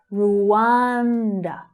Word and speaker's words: Rwanda: So the first syllable you have the oo as in shoe vowel sound. Ru, but the second syllable is stressed. Rwanda.